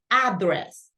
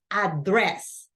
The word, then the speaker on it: address: hear a lot that people says address but not it's not address it's address and I always recommend